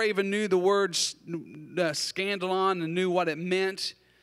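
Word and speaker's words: σκάνδαλον: And that word offense in the Greek, I'm going to try to pronounce it right. Scandalon. Did I get it right, Randy? Right? Scandalon. Scandalon. I had to think scandal. Scandalon.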